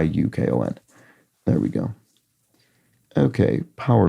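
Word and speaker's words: UConn: I don't know and school name that sounds like a Canadian territory sounds like but presumably is not spelled like Yukon is is there a school yeah no I see yes University of Connecticut Ukon there we go and it sounds like the Canadian territory the you know Yukon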